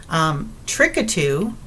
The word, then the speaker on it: Trikatu: Trickatoo, it's spelled Trikatu, trickatoo.